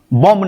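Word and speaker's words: bomb: Silent. इसको पढ़ेंगे बॉम्ब। बॉम्ब नहीं पढ़ेंगे।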